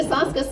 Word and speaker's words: Soska: But we're the Soska sisters. It rhymes with ayahuasca, so it's very easy to remember.